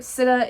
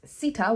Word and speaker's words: Sita: at a point where sidda and or actually as her name is pronounced sita which i'll go into